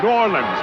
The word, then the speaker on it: New Orleans: New Orleans. That's how you say it down there. New Orleans. A It's all one word down there.